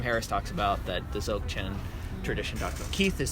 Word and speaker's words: Dzogchen: Dzogchen. I always say it wrong too. I add a B.